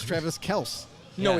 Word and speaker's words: Kelce: He goes, yeah, actually, my father, the real pronunciation is Travis Kels.